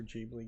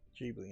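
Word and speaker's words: Ghibli: Um, this was the other Jubilee game. Very Jibli inspired game.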